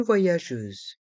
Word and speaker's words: voyageuse: prononce je Jeur voyageur dans le mot voyageuse encore une fois le y se prononce avec la voyelle o vois et avec la voyelle a vo voyageuse le G est suivi de la de la voyelle e donc se prononce je et le S se